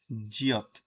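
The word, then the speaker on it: 지읒: এরপর হচ্ছে আমাদের গিয়ক সাথে লেজ, এটা হচ্ছে আমাদের জিয়ত। এটা হচ্ছে আমাদের জিয়ত। এর উচ্চারণ হচ্ছে ঝ এবং বরিগাত জ এর মাঝামাঝি একটা জায়গায়। মাঝে বা শেষে বসলে বরিগাত জ, ভাচ্চিম হিসাবে বসলে ত।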